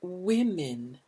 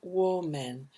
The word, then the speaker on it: women: and three men on the committee notice the pronunciation it's women the sound there is lips are out for this women good and men okay notice this is not war men but women to e sounds now remember we